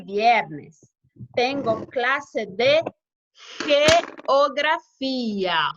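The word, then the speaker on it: geografía: Los lunes, jueves y viernes tengo clase de geografia. Olha a pronúncia do G.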